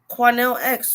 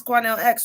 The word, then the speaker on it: Quanell X: you guys are saying quanel x right am i saying you're saying i'm saying it wrong it's cornell x right yeah she came from